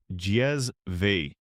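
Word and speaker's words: cezve: This was the kezve pronounced jezve, or an ibrick in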